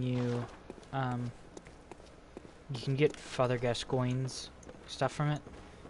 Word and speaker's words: Gascoigne: you can get Father Gascoigne's stuff from it. Or Gascoigne. Depends on how you want to pronounce his name.